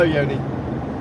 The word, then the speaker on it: Yoni: Hello, Yoni. I think Yoni said that I was to pronounce her name as Yo-Ni and say the knee like the Knights of Ni from Monty Python's what's it called?